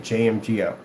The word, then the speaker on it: JMGO: JMGO, so we get that pronounced right while we're saying it, JMGO.